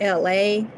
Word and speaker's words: Elay: So Who you see now is LA, pronounced like LA, like the city.